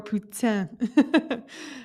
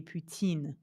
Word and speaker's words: poutine: She's Canadian, but poutine, the way it's spelled in French, to me would be poutine, not Poutin.